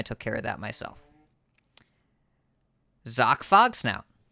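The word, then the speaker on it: Zok: care of that myself zoc fox now it's like sock but with a z ironically not wearing any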